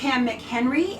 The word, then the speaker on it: McHenry: Her name is McHenry, and she is the creator and owner of Pamalama Joe Designs. I said it right. Yep.